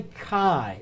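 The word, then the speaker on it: χῖ: bit this is a chi looks like an ex but it's a chi it's a it's a hard CH sound Chi maybe a que sound something like that s'ok i go ahead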